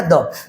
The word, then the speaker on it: the: Next है when to pronounce it एज दी। अब इसे हम दी कब पढ़ते हैं? तो सुनिएगा। When दी फॉललोड बाय a word that starts with a vowel sound.